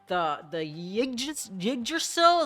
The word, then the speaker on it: Yggdrasil: And the Yggdrasil, is that how you fucking say it? I know it's called Yggdrasgard, but, you know, the fucking Y is silent.